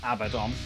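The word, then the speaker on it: Abaddon: What about Abaden? I get that a lot of people call him Abadon, but I'm an Abaden kind of guy.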